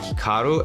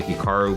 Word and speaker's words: Hikaru: more Americanized versus Japanese certainly if I was pronouncing it correctly it would be more like Hikaru as opposed to Hikaru but I've spent so